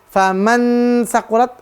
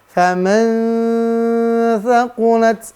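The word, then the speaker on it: فمن ثقلت: Bukan bukan n. Bukan faman sakulat atau famang sakulat. Tapi bukan. Ya. Tapi bacanya faman thaqulat mawazinuhu.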